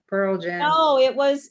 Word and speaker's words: Pearl Jam: saying the same like pearl jam oh it was it was the word stress like i say pearl jam he said pearl jam so it's about word stress got it yeah it's